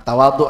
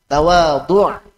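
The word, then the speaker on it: تواضع: Nah, tawadhu semuanya. Tawadhu pakai ain. Bukan tawadhu.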